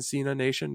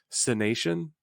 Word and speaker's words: Cenation: I didn't like them saying Cena Nation because that's 2 words, but it's Cenation.